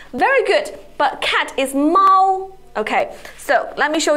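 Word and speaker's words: 猫: good but cat is Mao okay so let me show you the difference is Mal no it is the first tone Mao and Mao is the second tone Mao Mao okay so can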